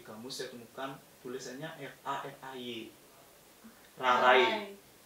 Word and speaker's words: rarai: Rarai. Dibacanya kan Rarai pakai I. Kalau lama-lama kita coba bilang Rarai, lama-lama kan Rare. A sama I itu blend dia jadi I. Kayak logat Sukawati jadi Rarai gitu.